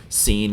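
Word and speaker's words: س: is the lighter sound just like Sal is the dark sound seen is the light sound do is the dark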